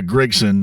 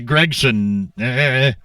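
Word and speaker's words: Gragson: Now, I've pronounced it before, Noah Gregson, and he goes, oh, it's a Gregson.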